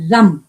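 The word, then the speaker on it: Ram: इसको लिखते तो हम आर ए एम है लेकिन हम इसको प्रोनाउंस करेंगे रम आर के ऊपर बिंदी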